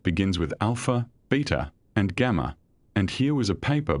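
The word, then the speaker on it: Gamow: Gamov simply could not resist the joke of having a paper on the origin of the elements authored by alpha, beta, and gamov pronounced as alpha, beta, gamma.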